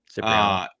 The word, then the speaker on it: Cipriano: I was looking up Nebraska's all-time seasons, and I don't know how to pronounce his. Is it Joe Cipriano? Yeah, Cipriano.